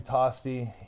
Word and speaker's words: Tosti: Tosti.